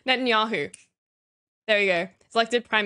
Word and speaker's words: Netanyahu: 2009 Benjamin n dude I've heard this name pronounced so many times and I still do it wrong Netanyahu there we go selected prime minister uh brief